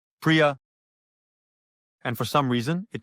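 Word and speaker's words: प्रिय: This word in Sanskrit sounds like priya, and for some reason, it translates to love.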